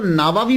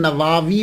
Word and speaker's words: نووی: گئی کہ امام نووی، اس کو نووی بھی بول سکتے ہیں، اور اس کا تلفظ پروننسیشن نواوی بھی ہے، یعنی وا کو لمبا بھی کریں گے، نواوی بھی اور نواوی، یہ دونوں جو ہیں وہ پڑھے جا سکتے ہیں۔ محرم الحرم میں آپ